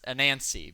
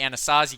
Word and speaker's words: Anancy: And I just realized that you've been saying Anastasia. We've been saying it wrong. It's a Nancy because the author is named Anancy. Yeah, Ani. Um, so it wasn't the Anastasia Goatman.